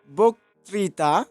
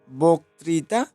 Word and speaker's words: বক্তৃতা: যেহেতু আদ্য অ আছে এখানে, বতে অ আছে, অ এর পরে রয়েছে রিকার, সেহেতু বতে ওকার চলে আসে বক্তৃতা উচ্চারণের সময়, এভাবে আমরা বলি।